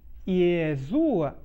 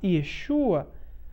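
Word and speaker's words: ישוע: e do português e no nome Yeshua não se não se diz yua mas Yeshua prestem atenção na escrita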